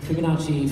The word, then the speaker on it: Fibonacci: Fibonacci, four syllables.